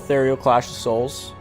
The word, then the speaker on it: Ethereal Clash of Souls: So the game is called Ethereal Clash of Souls. I'm pronouncing that right, correct?